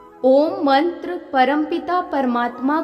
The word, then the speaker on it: ॐ: ओम शब्द में पूरी सृष्टि समाई हुई है। इसके उच्चारण से सकारात्मक ऊर्जा का संचार होने लगता है। ऐसे 3 अक्षर से अ, उ, म से मिलकर बना है ओम।